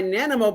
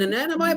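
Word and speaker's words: Nanaimo: I don't might be want an pronouncing it Nanimo wrong. bar. So if those Canadians in the house, but that's how they pronounced it when I was there in Victoria.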